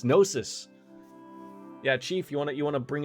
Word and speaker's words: Gnosis: I still feel like we should say it like Gnosis. No, it's Gnosis.